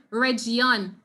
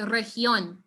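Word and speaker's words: región: popular very popular region so make sure you don't say something like region okay maybe make sure you say region we being and when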